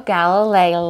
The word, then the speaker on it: Galilei: was Galileo Galileo and you saw Galileo Galilei lie I believe is how it's pronounced okay but we generally